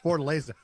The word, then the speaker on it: Fortaleza: But that's how you pronounce it, Fortaleza.